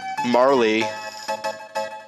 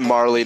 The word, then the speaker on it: Marle: my name is er Marley I pronounce it Marley not Marl oh she wanted inside